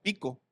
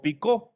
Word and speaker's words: Picó: Pico con K y acento en la O. Pico o picó. Picó.